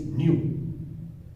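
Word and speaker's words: ν: Actually that is read as, or the pronunciation of this symbol is nu.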